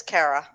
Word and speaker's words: Cara: uh my name is kara kara nice that's easy to remember really most people botch it and it's four freaking letters two syllables and they still it up c-a-r-a cara oh wow you didn't